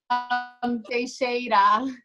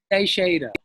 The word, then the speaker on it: Teixeira: You've spelled it now to help people be able to pronounce it. I've seen here. So yeah. Teixeira. Teixeira.